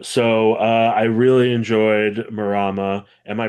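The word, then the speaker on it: Mārama: Um, so, uh, I really enjoyed Morama. Am I pronouncing that right? I think you can the line above the first a, all that means is extend a vowel.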